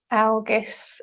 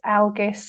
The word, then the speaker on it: Algiz: can either you can chant it algus algus so it's spelled a l g i z or a l gis depending on how you spell it and you can chant